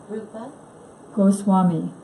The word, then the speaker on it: Rupa Goswami: Rupa Rupa Goswami.